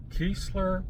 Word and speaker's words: Keesler: Keesler Parkway. God, I knew I was saying it wrong.